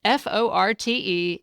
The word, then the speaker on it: forte: The bottom line is that forte is really 2 words with the same spelling. The French-derived one, meaning your strong point, was traditionally pronounced like fort, but most Americans now say forte.